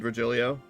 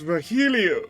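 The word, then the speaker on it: Virgilio: bartender you look winded regilio it's pronounced vilo vilo no I'm pretty sure it's vilo you said as much the last time he came pronunciations are a silly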